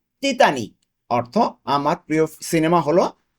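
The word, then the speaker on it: Titanic: তাহলে কি ইতালিয়ানে কি তিতানিক। তিতানিক, টাইটানিকের ইতালিয়ান তিতানিক, উচ্চারণটা হবে এইভাবে।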